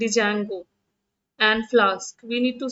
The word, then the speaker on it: Django: It is actually Django, D is silent.